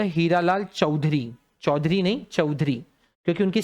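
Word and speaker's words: Chaudhuri: It's Hiralal चौधरी। सी एच ए यू डी एच यू आर आई। चौधरी इट्स नॉट ए आर वाई या ओ यू आर वाई जो वो चौधरी लोग लगाते हैं ये चौधरी है हीरालाल चौधरी बोलो याद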